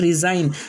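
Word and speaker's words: resign: इसके बाद का नेक्स्ट रूल है, जब जी के बाद एन आ जाए तो जी साइलेंट होगा। यानी जी के बाद फ़ौरन बाद एन आएगा तो जी साइलेंट हो जाएगा।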